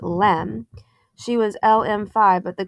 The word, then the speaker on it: LM: caption reads the lunar module or LM pronounced Lem she was lm5 but